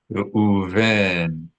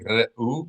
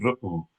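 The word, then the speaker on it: רְאוּבֵן: Reuven, Reuven. You may have noticed I'm not saying Re'u, but I'm saying Re'u. Very subtle difference, but this is because the letter Aleph is a guttural letter, and we have a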